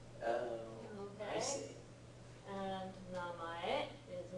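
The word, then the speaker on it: 名前: Namai. Namae. Yep. Name. Yeah, name. And this na gets pronounced another way as well, may.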